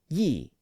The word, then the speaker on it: ye: actually pronounced the but there was also a pronoun spelled ye and it was actually pronounced ye it was an alternate